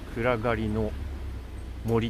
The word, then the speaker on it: 闇之森: はい、右横に闇森って書いてありますね。暗がりの森って読むらしいですね。